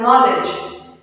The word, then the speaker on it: knowledge: Then another one, K-N-O-W-L-E-D-G. Okay, so K is highlighted there and D is highlighted there. So you pronounce it as knowledge.